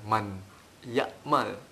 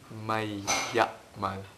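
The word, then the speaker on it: من يعمل: Nah, di sini ketika matahari ketemu dengan bulan, matahari menang, sehingga dibacanya bukan man ya'mal tapi may ya'mal.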